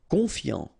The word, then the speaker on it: confiant: Confiant, okay, final T not pronounced, so O-N, on, I-A-N, ian, confiant, confiant.